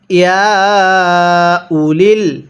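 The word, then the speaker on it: يا أولي: এরপরে ইয়া উলিল, এখানে হামজা পেশ উ, হামজা ওয়াও পেশ উ পড়া যাবে না।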